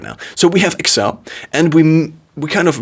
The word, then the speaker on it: Excel: but it's also a merger between axle and x so excel is the proper pronunciation in i think american english or british english i switch between those